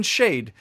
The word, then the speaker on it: Schade: And then Schade, Schade. It's a German word. It means what a pity.